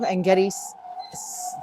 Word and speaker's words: En-Gedi: Also, En-Gedi looks like it's spelled like Jedi.